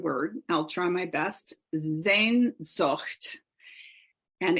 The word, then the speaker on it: Sehnsucht: Sehnsucht. And it's spelled Sehnsucht. Sehnsucht.